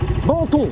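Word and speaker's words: Benton: Banton, voilà. B-E-N-T-O-N. Banton, c'est bon, c'est du thon. La rue de Banton, voilà. C'est plus bobo, tu vois, prononcé comme ça.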